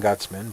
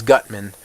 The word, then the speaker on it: Gutman: boss in Mega Man Gutzman, but that's Gutzman. This is Gutman. I have this habit of pronouncing Gutzman, but it's a very